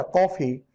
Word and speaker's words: कॉफी: इसका उच्चारण न तो आ होता है, न आपका क्या होता है? ओ होता है। आ और ओ के बीच में होता है इसका उच्चारण।